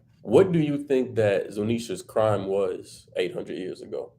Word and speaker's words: Zunisha: forgetting how to pronounce the how do you pronounce it? It starts with a Z. The elephant. Zunsa? Zunisha.